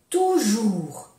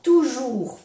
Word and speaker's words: toujours: Pour toujours. Para siempre. Pour toujours. Aquí tenemos 3 veces U. O-U-U, O-U-U, O-U-U. Pour toujours. No se pronuncia la S, Pour toujours.